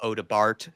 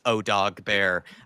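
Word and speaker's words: Odobert: By the way, it's not Odebart, Dermatron, it's Odog Bear.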